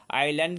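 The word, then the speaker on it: island: आइलैंड के पहले article क्या लगेगा? देखिए आइलैंड का पहला लेटर आई है। और ये भवेल साउंड है। लेकिन इसका उच्चारण आई आ रहा है।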